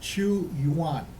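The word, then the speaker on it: Qu Yuan: And this is a poem by, I know I'm pronouncing this right, Chu Yuan. I'll spell it for you, Chyuan.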